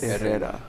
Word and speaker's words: Herrera: And then it's Herrera, which is much harder. You gotta roll your R's. Herrera.